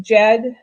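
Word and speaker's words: Djed: These are called, okay, I know I'm going to say it wrong, but Jed, the Jed, I think the D silent evidence that the Jed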